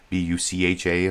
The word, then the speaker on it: Bucha: B-U-C-H-A, I think that's how it's pronounced, Bucha.